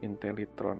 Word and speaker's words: Intellitron: Intellitron. Okay, that's easier to remember. Intel, like intelligent, and Tron, as in Megatron.